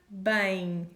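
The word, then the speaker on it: bem: sleep well in portuguese so bang again we have another m at the end of a word bang bang durma is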